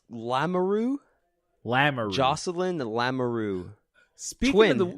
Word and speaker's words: Lamoureux: So LaRue. Is it LaRue? It's Lamoureux? Lamoureux.